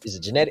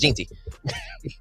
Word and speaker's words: Jeanty: Oh, is it Genetti? I think it's Genetti. Or Jeanty. No, it's Jeanty.